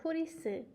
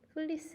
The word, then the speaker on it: 플리스: 첫 번째 플리스 그래요 한국에서는 후리스 아고 발음하기도 해요 후리스는 플리스 a 일본어 발음이에요 여러분 유니클로 브랜드를 알아요